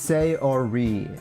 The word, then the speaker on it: Sayori: It's Sayori. Sayori, Sayori, Sayori. Pronounce the your more in Sayori.